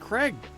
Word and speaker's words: Craig: It's just Craig. It go egg. You know, AI. Egg. DJ Keg Stands Mega Mix Volume 1. Craig is pronounced with Greg, but with a C.